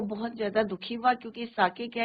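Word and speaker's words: sake: अब साके क्या है, कल भी हमने बोला था, इसको सेक नहीं पढ़ेंगे, it's pronunciation is your साके, Japanese string है।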